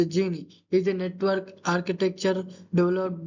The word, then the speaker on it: Jini: Genie Technology, pronounced Genie, is a network architecture